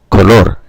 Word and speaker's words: color: Where in Spanish, both the O's are the same sound, O, color, and the syllable at the end is stressed, not the first, like in the word in English.